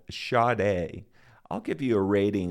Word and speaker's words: Sade: company actually printed pronounced charde on the labels of its release this was inaccurate it's actually pronounced sha without the r so there was a lot of confusion around that but it's pronounced shade no R several members